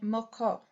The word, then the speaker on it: moko: a K calling it moko and it is almost identical in pronunciation as in meaning with the Hawaiian name both the Hawaiians and